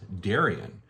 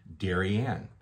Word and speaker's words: Darien: would say and we think of it as Darion but actually it is named darianne that is how the locals pronunciate their names and I didn't even know